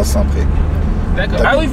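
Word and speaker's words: Saint-Prex: Tu vois, on va à Saint-Pré. D'accord. Ah oui, tu prononces pas le X.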